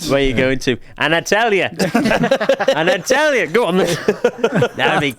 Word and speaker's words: Antalya: Atalanta? You can't even pronounce. No, not Atalanta. Not Atalanta. That is Antalya.